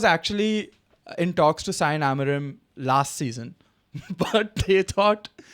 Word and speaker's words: Amorim: Amorim. Amorim. So apparently, according to a very reputed media outlet, Daily Mail, they said that West Ham was actually in talks to sign Amorim last season, but they thought it'll be too